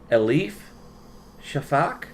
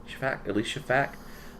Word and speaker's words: Elif Shafak: And then this year's is probably going to mispronounce this as well. Elif Shafak. Elif Shafak.